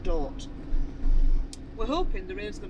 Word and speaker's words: Dordrecht: It's spelt Dordrecht, but apparently it's pronounced Dort.